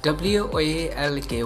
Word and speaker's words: walk: and stock so repeat after the talk w-a-l-k walk s t a l k stock WR